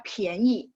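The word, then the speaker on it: 便宜: Jadi P baca PH. Pianyi itu murah ya. Ini karena dari sistem, jadi sistem itu dia cuma dimasukin satu perintah sehingga dia keluarin oh huruf ini ya bacanya ini. Dia nggak tahu bahwa huruf ini sebenarnya dua baca. Jadi kalau ketika gabung sama I, pianyi, dia harus baca P-I-A-N. Bacanya PH ya, bunyinya.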